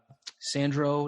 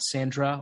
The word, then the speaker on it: Sandro: My social media is at Sandro, not Sandra, or at Sandro, not Sandra, depending on how you pronounce things.